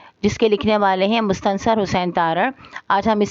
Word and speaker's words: مستنصر: جیت سکتی تھی، جس کے لکھنے والے ہیں مستنصر حسین تارڑ۔ آج ہم اس سبق کا خلاصہ